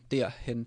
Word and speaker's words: derhen: So we do not have the R become like a R sound. It actually just makes the E change to der, derhen, derhen. So that's when you try to pronounce it. You can split it up. I think in 3 d. So the D sound and the ear. So D, ear, hen, der, hen would be the way to go.